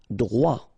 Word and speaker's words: droit: Droit. So final T not pronounced.